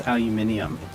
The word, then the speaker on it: aluminium: You know, that's technically wrong because there's no extra N in there. It's not the N it's not the N. It's the I. In America, Or the I. In America, The I, yeah. In America, we don't spell it with the I. Oh, I need stuff to drop. But in other countries, they spell it with an I. That's why it's aluminium. Because there's an I in when it's spelled everywhere else except for here.